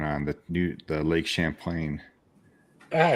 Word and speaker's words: Champlain: the new the Lake Champlain yeah you said it right I wasn't I kept saying Lake Chaplin I wanted to say